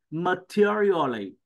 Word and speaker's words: materially: Tại sao đằng sau chữ lì cái chữ sờ là sau ra chị Hằng? Nó không hề cái chữ sờ mà chị phát âm chữ sờ đó. Lại nè, materially. Materially. Rất là chuẩn, chị thấy chưa? Thủ đắc rất ngon luôn. Còn nhìn vô cái chữ là phát âm ra sai liền.